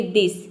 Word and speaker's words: this: कुछ वर्ड में टी एच को हम द भी प्रोनाउंस करते हैं। जैसे कि दिस। दिस में आप देख सकते हैं कि टीएच को हम द प्रोनाउंस करें। यहां पे टीएच का द हो जाएगा। आई का हो जाएगा ई एस का हो जाएगा स पूरा हो जाएगा दिस दिस मतलब होता